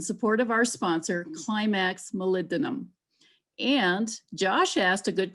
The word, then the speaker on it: molybdenum: this is greg and you pronounce it molybdenum phonetically molly be denim molybdenum hi this